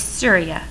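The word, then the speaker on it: Surya: i would just totally slaughter it it is syria all right so these were their gods so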